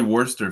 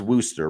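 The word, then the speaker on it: Worster: Where do you think Raleigh Worcester fits in all this? It's Wooster, Raleigh Wooster, just because he's from Montana, so I actually know how to pronounce that dude's name.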